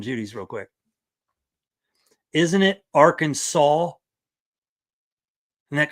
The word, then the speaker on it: Arkansas: Um, it says Arkansas must be pronounced Arkansas.